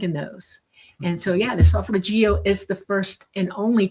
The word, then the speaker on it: solfeggio: Or the solfeggio, and that's how you say it, solfeggio.